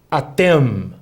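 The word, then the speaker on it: אתם: Atem.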